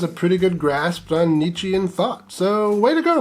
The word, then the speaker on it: Nietzsche: He's a fan of the German philosopher Nietzsche, even though he mispronounces it Nietzsche.